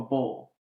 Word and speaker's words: Boyle: south so I understand up here it's boil down there more of a bowl yeah for sure for